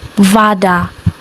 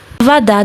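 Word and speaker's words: вода: Vada, the vowel sound o is pronounced as vada, vada.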